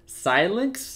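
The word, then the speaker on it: Xilinx: that difficulty pronouncing this i think it's pronounced silence i'm not too sure it's x-i-l-l-i-n-x but they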